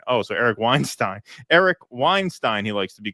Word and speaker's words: Weinstein: FYI, Eric Weinstein gets very irritated when you pronounce the Steen in his name as Epstein and not as in Einstein. Oh, so Eric Weinstein, he likes to be called.